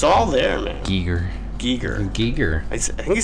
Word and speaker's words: Giger: say Giger, but if you hear him say it, it says It's it like spelled with an Giger.